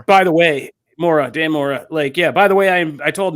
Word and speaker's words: Mora: More, yeah, just more. By the way, Dan Mora.